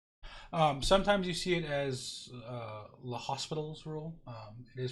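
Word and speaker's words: L'Hôpital: Hopi tall's rule sometimes you see it as l'hospital's rule it is pronounced it okay hope it out the French guy predictably he might have been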